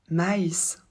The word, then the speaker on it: maïs: Avec le tréma, la prononciation du I ne change absolument pas. En fait, le tréma, il est là pour qu'on maintienne la prononciation du I en I quand il devrait être mélangé avec une autre lettre et faire un autre son.